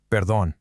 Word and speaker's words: perdón: Perdón. And look, there's our accent rule again. See that accent on the O and perdón? That means you emphasize that last syllable.